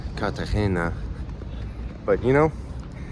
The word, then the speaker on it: Cartagena: Well, woke up today in Cardagina. Yeah, I'm going to call it Cardina, you know, cuz I was thinking about this. Obviously, I know that it's called katahena, but you know, it's not really worth trying